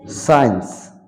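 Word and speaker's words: science: সাইলেন্ট থেকে যাবে যেমন বেখর মানে সংকেত সি সাইলেন্ট থেকে যাবে সেন্ট মানে হচ্ছে সুগন্ধি সিন মানে দৃশ্য সাইন্স মানে বিজ্ঞান সিনারি মানে প্রাকৃতিক দৃশ্য এই শব্দগুলোতে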